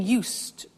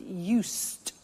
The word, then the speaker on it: used: speaking Italian every day listen to the pronunciation I said used with t sound used not used or used that's very important to distinguish it from the other verb use okay used the next